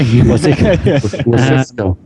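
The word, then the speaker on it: Wasicsko: Yeah, Wasisco. Thank you, Wasisco. Yeah, it's pronounced like it's written, as he says in it.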